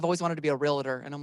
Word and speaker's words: Realtor: two three thank you it's not three syllables real letter it's realtor two syllables you feel me okay